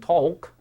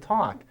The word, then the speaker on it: talk: and talk you know both words have a silent l in the middle we don't say walk and talk we say walk and talk actually sounds like Ock but it's ALK in English again you know these